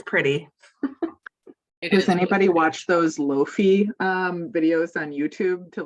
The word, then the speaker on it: lo-fi: to look it up lofi okay now I have to look it up it's called loafy I've been calling it Lo-Fi the whole time I would also say